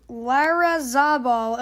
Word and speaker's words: Larrazabal: Also, we see this little title card here that says Edgar Larrazabal. Okay, that's how you pronounce it.